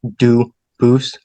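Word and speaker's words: Dubois: They do pronounce it dubis, but you said you pronounce it dub as the original dub boo as the original French.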